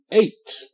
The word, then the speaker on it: eight: his present slave good eight eight H GH is silent GH makes no sound okay now uh okay